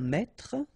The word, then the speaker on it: mètre: Un mètre, and so you will have the translation here. Un mètre, and then un mètre as well. Okay, so un mètre and un mètre, same pronunciation.